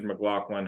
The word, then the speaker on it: McLaughlin: It is pronounced McLaughlin, but don't worry. McLaughlin. You're only about the 879th person to make that misstep.